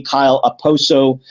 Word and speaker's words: Okposo: Speaking of silence, is the K in his last name silent? I can't pronounce it. Is it Okposo? The K? I don't think it is supposed to be silent, actually, no. I mean, usually you hear it when his name is said quickly, Kyle Okposo. So it's not. I don't think it's supposed to be silent. I think it is supposed to be pronounced, but you don't hear him call.